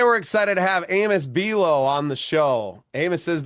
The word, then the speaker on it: Buelow: And I appreciate you saying my name so well, too, with the pronunciation. You really drove it home with just like the cookie.